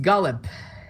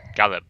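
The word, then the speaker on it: Galeb: butcher at all haha it's pronounced gallop gallop 90% correct single seagull so this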